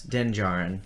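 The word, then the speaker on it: Din Djarin: doesn't make sense yeah so it's like django it's denjarin okay so django another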